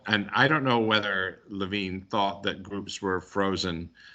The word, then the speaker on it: Lewin: Levine, I think, is the way that name is supposed to be pronounced.